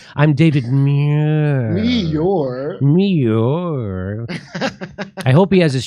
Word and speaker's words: Muir: It sounds like a kitty doing a kitty purring. I'm David Muir. Muir.